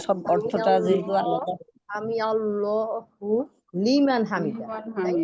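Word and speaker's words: لمن حمده: সামিয়াল্লাহু লিমান হামিদা, লিমান তাই না? হামিদা ওই যে আইনটাই তো হলিমান হামিদা বললে হবে উচ্চারণ না।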